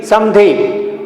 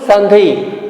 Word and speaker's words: संधि: Samdhi, but as pronunciation sandhi.